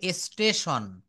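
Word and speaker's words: station: এসটি এ টি আই ও এন এটা হবে স্টেশন এটা কি হবে বলেন স্টেশন তারপর সি এ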